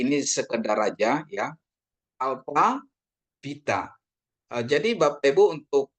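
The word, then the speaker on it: βήτα: ya Oke nanti ini sekedar aja ya Alfa Vita Eh jadi Bapak Ibu untuk B Vita ini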